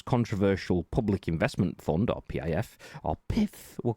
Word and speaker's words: PIF: a deal with the PIF. The PIF, you have to pronounce it like that. This is the only way.